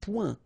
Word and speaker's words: point: Un point. Un point. All right, so you can see that here the only difference is the final letter, okay, but then they are pronounced the same way and both of them are masculine.